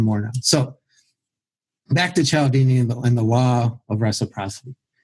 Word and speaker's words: Cialdini: I believe it's Cialdini. Cialdini. Only I saw Ken McCarthy actually phonetically write it out, or however you say it, write it out like, here's what it sounds like.